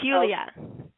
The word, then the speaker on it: Yuliya: the show hello hello now am I pronouncing your name correctly is y Julia jul Julia yes jul it's Julia and so how are